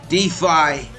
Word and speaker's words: DeFi: of some stupid DB defi rhymes with lie because it's all a